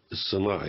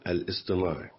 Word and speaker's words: الاصطناعي: الذكاء الاصطناعي، خلي بالك من الاسم، الذكاء الاصطناعي، لان في بعض وساعات احنا بننطقه الصناعي، لا، هو الاصطناعي.